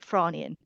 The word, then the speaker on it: Frasnian: I think you pronounce it Franian. It's spelt Frasnian, but I feel like it's I think pronounced it's Franian.